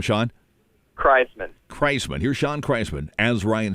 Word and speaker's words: Kraisman: Kraisman.